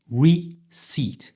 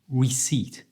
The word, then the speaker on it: receipt: like the word seat notice the p is silent seat so Al together it's receip receip you try listen to